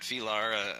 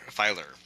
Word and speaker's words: Filer: I caught up with Matt Felar um board member um with the crabs and um I'm sorry Matt Filer Filer I've been mispronouncing his name for years which I just learned when reporting the story.